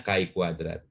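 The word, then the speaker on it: chi-kuadrat: ya, distribusi dari ini adalah Ki kuadrat. Pembacanya Ki kuadrat.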